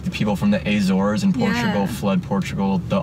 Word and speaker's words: Azores: dictator running the country is that how it's pronounced is azores yeah it's not a chore it's so hard to